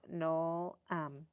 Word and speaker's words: Noel: And then Noel, pronounced just like Joel, but Noel.